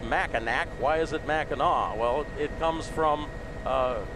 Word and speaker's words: Mackinac: mackinac why is it mackinaw well it comes from uh people french traders coming in and the pronunciation of the ac was actually aw and it comes from